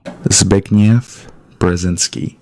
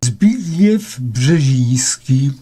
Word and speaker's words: Zbigniew Brzezinski: little audios here to you of how you pronounce this correctly. Zbigniew Brzezinski. Sorry if that was a bit loud. Zbigniew Brzezinski.